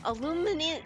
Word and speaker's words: aluminium: Aluminium. Oh, really? Aluminium? Really? Or no, wait, no. And hi, Neff. Hi. If you're British, it's aluminium.